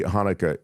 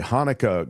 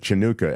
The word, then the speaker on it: Hanukkah: So somebody said they wanted to, get a Hanukkah greeting from Smokey Robinson. So you go to Cameo and you pay a certain amount, and then they just write it out, Hanukkah, but he pronounced it Chinooka, and it's still my favorite.